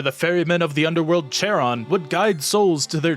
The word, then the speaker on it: Charon: at describes it as starting to make a k sound but not finishing it so it's more like an H but like an aggressive H I'm gonna try to